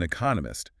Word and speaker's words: economist: Economist, stress on the second syllable.